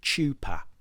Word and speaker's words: chuppah: Not as many of you would have pronounced it, chuppah.